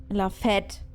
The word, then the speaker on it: fête: Wisst ihr auch, was Fete, also wie Fete ausgesprochen wird im Französischen, ist nicht so nett. La Fête.